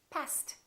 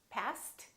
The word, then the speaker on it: passed: parked cook cooked pass pass is a voiceless consonant past tense is passed therefore this word and this word sound exactly the same past past let's try a few